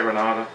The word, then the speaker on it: Renita: And there's, I'm not sure how it's pronounced, I'm pretty sure it's Renata or Renita. It's pronounced Renita, but I say Renata.